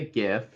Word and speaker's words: GIF: about like you know it just makes more sense if it's a hard G so GIF okay I like that